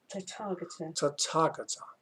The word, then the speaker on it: Tathagata: Subhuti, if a man should declare that the Tathagata, let me just pronounce this right. Tathagata.